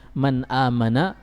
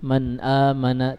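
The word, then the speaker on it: مَنْ آمَنَ: Misalnya di sini tulisannya man amana, tidak dibaca lagi man amana, tidak, tapi dibaca dengan man aman.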